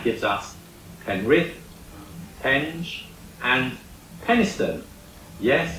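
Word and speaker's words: Penistone: Hill and that gives us penrith pen and peniston yes it's pronounced peniston you remember that I said that recent DNA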